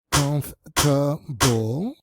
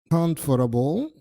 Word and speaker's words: comfortable: expensive, y por último, esta palabra que tiene 2 pronunciaciones, comfortable, en este caso tiene 3 sílabas y su otra pronunciación, comfortable, en cuyo caso tiene 4.